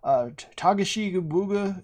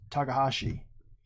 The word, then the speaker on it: Takahashi: So people are always like, Tagashi Buga, and you're like, no, it's Takahashi.